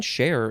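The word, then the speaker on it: chare: Next we have share, C-H-A-R-E, or you don't need the E. I think it's saying share is how you pronounce it.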